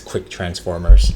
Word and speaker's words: KTransformers: And I think we're supposed to pronounce K transformers as quick transformers.